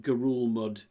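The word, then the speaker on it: Ngerulmud: Islands but it's yeah it's got a silent n and it's pronounced Gul mud and it's pretty much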